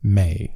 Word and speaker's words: me: She adorns herself with seven sacred may spelled me, but I think May is the correct pronunciation.